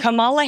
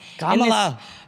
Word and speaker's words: Kamala: The Camala Harris won. Kamala, you have to know the pronunciation of my name.